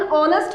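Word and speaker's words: honest: का यूज होता है, बिकॉज यहाँ पर भी एच साइलेंट होता है और इसके प्रोनाउंसिएशन में भी वोवल साउंड्स आते हैं, that's why वी यूज the article an before ऑनेस्ट।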